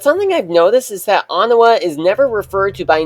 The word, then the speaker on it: Anawa: Although I used to think that Anawa was pronounced Oniwa until I heard it pronounced as it actually is in the Mata Nui character guide on the Mask of Light DVD, and in the opening narration of Legends of Metru Nui.